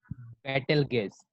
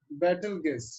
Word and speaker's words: Betelgeuse: What is the pronunciation of it? Betelgeuse. Battle gas, It's right?